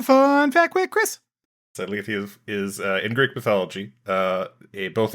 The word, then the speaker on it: Lethe: So this week's episode is season 1, episode 6 of Discovery, titled, I think it's pronounced Lethe. That is correct, Lethe. Oh, I thought it was Leet.